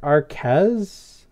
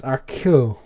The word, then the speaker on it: Arcueil: It looks like Arquez, like Arquette, but I guess it's Arcueil.